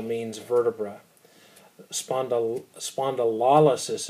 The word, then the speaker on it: spondylolysis: L means vertebra spandau spondylolysis is how you pronounce that lysis means to break